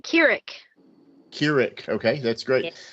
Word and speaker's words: Kirik: And we have our special interviewer, guest interviewer, I guess you would say tonight, Miss Amber Kirik. Did I say it right? Yeah. Kirik. Yes, Kirik. Got it right.